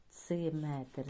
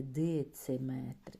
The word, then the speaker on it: дециметр: вимовляють і допускають помилку тут ми пишемо дециметр не ци бо люблять и казати дециметр і тут люблять вставити ще букву дециметр тир такого нема тр тому ми тренуємося підкреслюємо